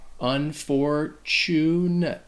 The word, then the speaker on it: unfortunate: can be troublesome because that tu actually sounds like a chew unfortunate unfortunate unfortunate that's it